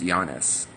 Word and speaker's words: Yanis: And yeah, I wanted to point out a lot of people are getting my name wrong. It's pronounced Giannis.